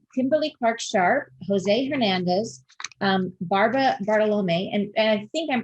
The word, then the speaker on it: Bartolome: We've got Kimberly Clark-Sharp, Jose Hernandez, Barbara Bartolome, and I think I'm pronouncing Bartolome correctly. Am I Barbara? I'm pretty sure. It's Bartolome, but that's Bartolome.